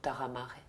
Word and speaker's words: Tarra Mare: Alors moi je l'appelle Taramare, ça pourrait être Taramar, si ça fait référence au mot corse de la terre et de la mer. Exactement. Exactement. Et en même temps, si on le prononce Taramare, il y a une consonance japonaise également.